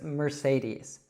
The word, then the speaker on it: Mercedes: So in the United States, we'd say this Mercedes.